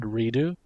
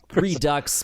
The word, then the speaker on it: Redux: so after is that is that really how you pronounce that word redo yes well most others redux it's redux but yeah i don't